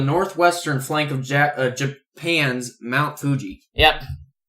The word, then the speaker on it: Fuji: Well, Aokigahara is a forest on the northwestern flank of Japan's Mount Fuji. Yep. Also it's Mount Fiji, yeah. Mount. Well, they pronounce it spelled Fuji.